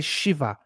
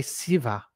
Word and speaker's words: Shiva: Some parts of India, they say Shiva. Other parts of India, they say Siva. You know? So you'll find that this is even within one place, there's different ways that things can be pronounced.